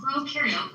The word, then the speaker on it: prokaryote: And to help me remember some more differences in this next part, I like to remember that pro in prokaryote rhymes with no, and eu in eukaryote rhymes with do.